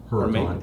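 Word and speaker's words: Huracán: Huracan, H-U-R-C-A-N. H-U-R. Yeah, C-A-N. Huracan. That's how we pronounce it. It's actually H-U-R-A. You pronounce it A.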